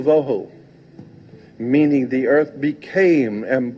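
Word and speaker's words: וָבֹהוּ: The two Hebrew words that are being translated there is tohu and vohu. Pronunciation, it would be T-O-E-W-H-O, tohu.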